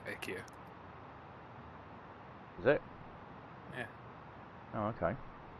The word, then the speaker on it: IKEA: I'm sorry, it's not pronounced IKEA, is it? IKEA. Are you taking the piss again? Well, that's how the Swedish pronounce it, IKEA.